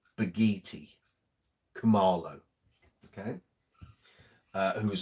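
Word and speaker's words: Bakithi: met him right so the K is pronounced as a g so it's beginning the I the H is silent so it's almost like it's b a g double e t y baghetti Camaro okay uh who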